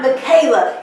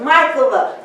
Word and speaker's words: Michaela: My name is not Michaela, it's Michaela. Make sure you pronounce my name correctly.